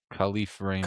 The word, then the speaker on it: Kalif Raymond: Kalif Raymond.